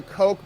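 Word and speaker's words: Koch: around for whatever reason oh it's pronounced the Coke brothers oh it's the Coke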